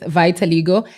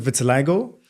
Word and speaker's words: vitiligo: you share your journey of being diagnosed with vitiligo and how it has impacted your life? I think that goes for both of us. Yeah, it's also my question. Also, just to clarify, some people pronounce it vitiligo.